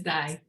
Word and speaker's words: DAI: And she is doing incredible work as CEO and founder of, and am I pronouncing this correctly? Is it DAI Technologies or DAI Technologies Corporation? I think it's DAI.